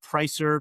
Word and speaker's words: Preisser: free to connect with me on LinkedIn, Pricer, P R E I S E R. It doesn't look like it's pronounced, but that's how it's spelled.